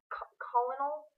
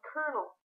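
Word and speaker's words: colonel: in that case now despite the fact that the word has no r in it it is not pronounced colonal colonal it's pronounced kernel if you enjoy playing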